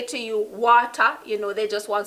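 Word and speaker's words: wata: So if a Jamaican say to you water, you know they just want some water. Water, water, water, water. Jamaicans never say water. It's always water. Water. W-A-T-A, water.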